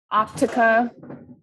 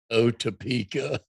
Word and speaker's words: Otepka: Optica. Yeah, it's that TP combination that really throws people. Otepka.